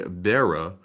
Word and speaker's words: Berra: yeah Yogi and then the second part is spelled like a bear with an a at the end of it and that was b-e-r-r-a let's see um let's